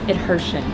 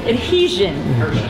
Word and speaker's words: adhesion: slightly and then we'll have better adversion is that how you pronounce that word adhesion we will have better adhesion for the powder so